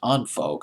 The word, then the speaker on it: En Vogue: Well, up 9 notches from 38 the previous week in Vogue, or it could be pronounced as Unvogue. I remember Kurt Loder of MTV pronounced it as Unvogue, but I'm going to stick with In Vogue.